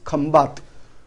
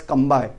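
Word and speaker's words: Khambhat: Actually, name of this is Khambat, but in English we are pronouncing as Kambai.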